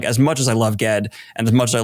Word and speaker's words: Ged: Because like, as much as I love Ged and as much as I love Earthsea, by the way, the first time I read that, the whole time I pronounced him Gede.